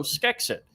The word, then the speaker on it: Schexit: do you pronounce that you pronounce it as if it's sk school so skeks it but just spelled like school sch anyway all right well